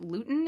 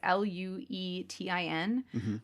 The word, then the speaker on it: Luetin: In the experiment, Noguchi injected an extract of syphilis called, I believe it's pronounced lutein. It's Luetin, under the subject's upper arm skin.